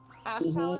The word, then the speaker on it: Ashtalon: We pronounce it wrong. It's Ashtalon. The point is, Ashtalon.